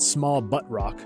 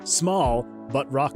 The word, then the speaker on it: Small But Rock Solid: places in your name I know it's not small butt Rock because it's just spelled with a one t small oh small but Rock Solid I'm over